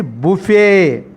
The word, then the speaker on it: buffet: The silent letter is T is a silent letter. We shouldn't pronounce T in this particular given word. But what is the pronunciation? It has two pronunciations are there. Both are correct. First one is buffet. Second one is buffet system or buffet system. Both are correct. Generally we are mostly used buffet.